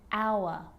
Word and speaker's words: hour: And sometimes it's not pronounced at the start of a word, like honest and hour.